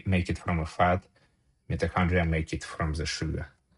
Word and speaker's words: mitochondria: Metahondri Metahondria. How do I pronounce it correctly? Mitochondrial.